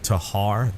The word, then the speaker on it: Tikhar: other one is called I call it the Tikhar, but I've heard people pronounce it Tikhar. They leave the K silent a lot of times, and many of you guys know this.